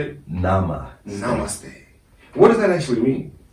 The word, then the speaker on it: namaste: Yamaste? How do you say it? Namaste.